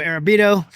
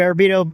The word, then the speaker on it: Arrabito: So we got Arrabito. Did I say it right? Yep. Arrabito, or Bito.